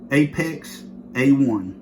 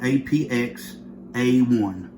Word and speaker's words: APX A1: budget gun Beretta a Apex A1 and the apx I'm sorry I said it wrong apx A1 so right there's a